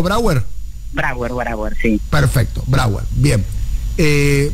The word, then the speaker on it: Brauer: te pregunto a vos, estamos hablando con Mara Breuer, que es... Brauer, que es diputada. Está muy freudiano. Bien. No digo porque Breuer era alguien que dialogaba con Freud en la época. Brauer. ¿Está bien pronunciado Brauer?